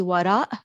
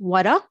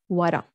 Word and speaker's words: وراء: In standard, that would be وراء, but we drop the hamza over here. It's just وراء, وراء.